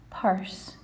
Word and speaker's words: purse: Purse. Notice that we don't sound the E on the end of this. This is a silent letter, but it's important we include it when we're spelling the word.